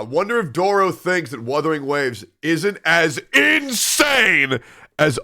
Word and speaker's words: Wuthering: ungrateful it's weing not withering okay channel so I got into the withering waves it's weing okay and I'm going to